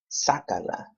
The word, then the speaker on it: sácala: When we do that, we add an accent to the third to the last syllable. Sácala. Okay, again here we have a command.